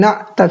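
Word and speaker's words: نعتا: Jadi bacanya iqra waktu bin na'ta fil jumlah.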